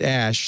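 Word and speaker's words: Æ: speculated it was actually ash it's a uh elited a and e some languages have and it's often pronounced ash he's musk said first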